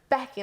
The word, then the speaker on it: Beaky: would expect something like it's a bit of an unusual spelling but it's pronounced becky but she was just like it's becky and i was like